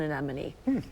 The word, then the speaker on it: anemone: of common names but it's an anemone yeah like the sea Anem clownfish yeah EX thereon